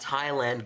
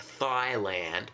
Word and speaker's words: Thailand: poor individual from Thailand, not thand like this is not from your thighs. Captain, do you know what they do in Thailand? I mean, I I agree with you that the pronunciation that Thailand is the pronunciation, but the the kind